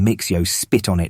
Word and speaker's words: Mxyzptlk: I'm pretty sure it's pronounced Mr. Mixio. Spit on it.